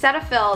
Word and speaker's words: Cetaphil: loving set of cetaphil i've heard it pronounced multiple ways i don't know anymore okay cetaphil that's how i pronounce it cetaphil rich hydrating cream